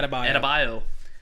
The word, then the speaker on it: Adebayo: Adebayo.